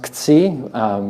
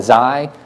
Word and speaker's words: xi: It's the Greek letter xi, or which I think is actually pronounced ksi, which is not particularly natural to my speaking language. Some people call it xi, some people call it si, I call it squiggle.